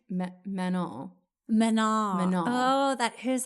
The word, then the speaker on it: Manon: Yeah, like they don't pronounce the last N. I still can't even really do it, but it's like Manon.